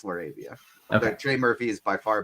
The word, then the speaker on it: LaRavia: so yeah of Berard Hawkins and laravia it's laravia Trey Murphy is by far better than all